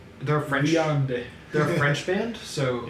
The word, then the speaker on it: Viande: The first song is Viande, I think is how you say it. They're a French. Viande.